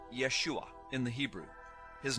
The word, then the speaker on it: Yeshua: first the name of Jesus Jesus's name is pronounced Yeshua in the Hebrew his name is formulated from